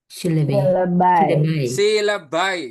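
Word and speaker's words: syllabi: Untuk jamaknya jadinya silabai jadinya, guys.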